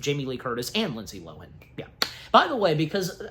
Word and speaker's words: Lohan: for a long time people have been saying her last name pronouncing it as Lohan it's not Lohan even she herself established that the proper way to to pronounce her last name is Lohen Lindsay Lohen there you go anyways um